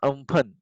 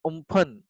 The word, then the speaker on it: Amphan: So the super cyclone Amphan, so actually it's pronounced Umphan, name given by Thailand, has weakened slightly and